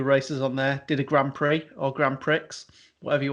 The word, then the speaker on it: grand prix: on there did a grand prix or grand prix whatever you want to say um no no pre it's pretty well it's spelt with an x but anyway right get